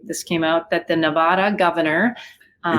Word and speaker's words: Nevada: came out that the Nevada Governor um it's Nevada not Nevada okay we gonna it irritates the living hell of people that live here I'm sorry it's not Oregon it's Oregon I think